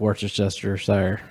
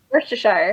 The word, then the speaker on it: Worcestershire: say that one classic Worcestershire sauce what'd you say how do you say it Worcestershire Worcestershire Worcestershire there you go I'm with Katie on